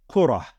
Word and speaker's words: كرة: with this word kuratun, we would actually pronounce it as kurah. It would be pronounced as kurah, okay?